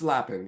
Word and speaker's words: Lapin: And I'm just going to say, is it Lapin? I should have said this. It's Lapin, yes. Okay, great. So I said it right.